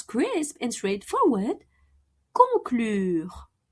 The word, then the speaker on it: conclure: Conclure. Conclure. To conclude like in to conclude a deal. Conclure un accord.